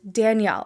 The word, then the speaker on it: Danelle: to clear the air my name is not in fact danelle you pronounce it danielle as if there was an eye in it so today we are